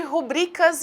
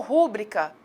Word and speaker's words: rubrica: Rubrica ou rúbrica? Começamos, então, por esclarecer que a forma correta de escrita da palavra é rubrica.